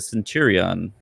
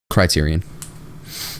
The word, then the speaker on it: Criterion: And EA will move Need for Speed development back to Centurion. Criterion. I always say Centurion.